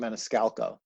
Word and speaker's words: Maniscalco: How do you pronounce that guy? Sebastian Maniscalco.